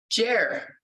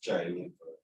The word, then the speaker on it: Jair: Jer. Is that right? Oh, it's Jair.